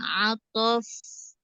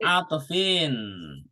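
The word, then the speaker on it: عطفٍ: Al-fa'u harfun atof. Harfu Atof. cara bacanya gimana tuh? Al-fa'u harfun atof. Ah, Atfun apa atof? harfu atfin. Oh, atfin ya.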